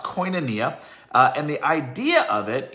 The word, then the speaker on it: koinonia: but fellowship you know is a greek word it's pronounced koinonia and the idea of